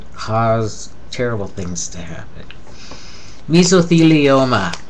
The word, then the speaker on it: mesothelioma: terrible things to happen misoa commercial on TV used to call it mesothelioma drove me crazy me esoa naso faringitis